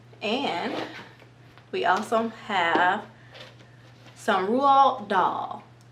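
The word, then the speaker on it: Roald Dahl: we also have some rule doll okay i believe that's how you pronounce his name rule doll so charlie and the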